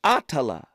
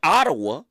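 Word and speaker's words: Attallah: say her name right atala atala see that's one of Malcolm's daughters ah AA you got to say that name right brother it's a powerful name not Ottawa Ottawa from Houston is on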